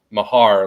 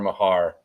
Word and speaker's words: Mahar: his last name, and he said Mahar, like handlebar Mahar.